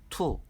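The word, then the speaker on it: two: 않지만 원 일하고 있습니다 이는 알파벳 tw 고 읽히는 단어 것에 알파벳 o 는 여기서 발음하지 않고 투 라고 있습니다 3 은 알파벳 three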